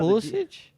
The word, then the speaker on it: Pulisic: And he bailed out Pulisic?